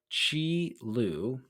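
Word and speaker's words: Qi Lu: that is in reference to a guy named Chi L he spells his name Qi last name Lu but it's pronounced Chi l so this but before we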